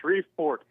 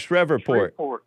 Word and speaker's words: Shreveport: Pronounce it like it's got an F.